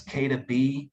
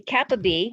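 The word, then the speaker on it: NF-κB: affects supporting by the nf dash i think it's k to b is that right tracy that's how you pronounce that that would be kappa b yes kappa b nf kappa b so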